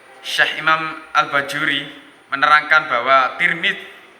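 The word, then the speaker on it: ترمذ: Imam Al-Bajuri menerangkan bahwa Tirmidz itu yang benar menurut pendapat yang masyhur itu diucapkan Tirmidz dengan tak kasroh. Namun ada juga ulama yang membacanya Turmuz dengan tak domah dan mim domah. Ada juga yang membaca Tarmidz dengan tak fathah ya. Tapi yang masyhur itu Tirmidz.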